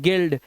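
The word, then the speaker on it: guild: गायल इसी तरह से यू के बाद आई क्या है एक वाउल है इसे पढ़ते हैं गिल्ड इसी तरह से यहां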